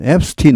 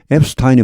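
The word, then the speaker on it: Epstein: 여기이 발음은 앱스틴 혹은 앱스타인 둘 다 좋습니다. 원래이 말은 독일에서 나오는데 독일에서는 앱스타인이 맞습니다. 앱스타인 아인슈타인 할 때처럼. 근데 이제 미국으로 넘어오면서 이게 앱스틴으로 점차 바뀌고 있는 거 같습니다.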